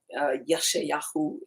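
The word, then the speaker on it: ישעיהו: Yeshayahu is his Hebrew pronunciation.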